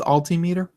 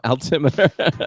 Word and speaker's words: altimeter: I believe the phrase is altimeter. No, altimeter. You have the accent on the monosyllable.